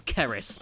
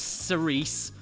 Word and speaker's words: Ceris: So, it's Keris, not Cerise or Clarice, like Dr. Lecter, like she's had jokes about her entire life.